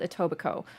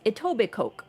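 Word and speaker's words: Etobicoke: It's called Atobbico, but it's spelled like Edobic Coke and outsiders are always saying it as Ittoic Coke because why wouldn't they? It's looks like it is.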